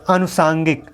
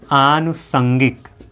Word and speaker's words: आनुषंगिक: कष्ट होता है फ्रंट यह अनुषांगिक अनुषांगिक अनुषांगिक नहीं होता है आनुसंगिक होता है आनुषंगिक अ कि आनुषंगिक अनुषंगी